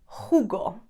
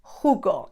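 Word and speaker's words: jugo: it in the peninsula it's hugo hugo it means juice we normally say thumu instead of hugo juice hugo okay so remember hard age in english third one okay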